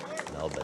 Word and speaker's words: Melbourne: You hear that pronunciation of Melbourne? Melbourne. He got it right.